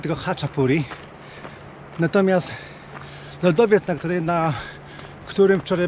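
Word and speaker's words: chaczapuri: Trochę mam dylemat, bo czasami CH wymawia się jako chy, a czasami jako czy. Stąd nazwa Haczapuri. Nie czytamy przecież Chachapuri, tylko Haczapuri.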